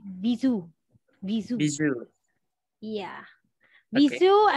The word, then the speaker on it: bisou: is pronounced, but yeah, this is a French word and it is read as bisou.